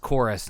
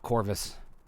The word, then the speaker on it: Chorus: today and i understand this is pronounced chorus not corvus even though they plainly used a v in that uh on that word um i was thrilled